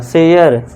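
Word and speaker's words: share: शेयर। सरे मत पढ़ना। शेयर।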